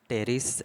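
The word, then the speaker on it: Pteris: Classes pteridophyta में psilopsida में आएंगे सिलोटम, लाइकोप्सिडा में सेलेजिनिला, लाइकोपोडियम, स्फेनोप्सिडा में इक्विसेटम, टेरोप्सिडा में ड्रायोप्ट्रिस, टेरिस एंड एडिएंटम, पी साइलेंट है।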